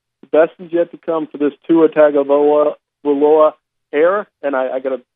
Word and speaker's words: Tagovailoa: Tagovailoa. No, it's that the Polynesian culture doesn't pronounce the G the way that we do.